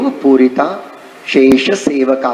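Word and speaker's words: पूरिताशेषसेवका: वाक सीधु पूरिता शेष सेवका, उच्चारण ऐसे करते अपन, वाक सीधु पूरिता शेष सेवका, लेकिन वाक सीधु पूरित अशेष से पूरिता अशेष सेवका ऐसे आता है।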